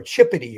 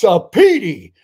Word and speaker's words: Cipiti: But he said Jacqueline Cipiti, and he called her Chippity, or he mispronounced her name. And she jumped out of her seat and she went, it's Cipiti, Cipiti.